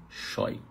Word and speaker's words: scheu: Shoy.